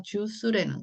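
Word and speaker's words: juice: 어쨌든 여기서 지금 주크가 아니라 주스라는 거예요. 스. 자, 이는 소리가 안 나지만 여기서 지금 역할이 말이죠. C를 스 발음으로 바꾸기도 했고 이가 붙어서 또 하나는 이렇게 이 앞에 있는 U를 장모음 소리로 바뀌기도 했고 여기 이의 역할이 지금 두 가지나 있는 거예요.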